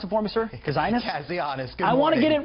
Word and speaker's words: Kazianis: the Center for National Interest, Harry, can you pronounce it for me, sir? Kazianis? Kazianis.